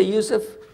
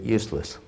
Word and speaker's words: Yusuf: be in english my name is yousef can you say yusuf first time you got it right all these years my wife still pronounces it useless could be a speech